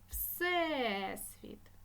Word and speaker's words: Всесвіт: наголос в цих словах Всесвіт наголосна е людина наголосна и місце